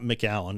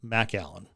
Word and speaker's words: McAllen: ice holding facility in Mac Allen, Texas. Now for those of you looking at the screen, it's not McAllen, it's Mac Allen. That's how they pronounce it down there.